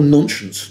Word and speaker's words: nonscience: So then there is something I call nonscience. Nonscience is non-science, but it rhymes with nonsense.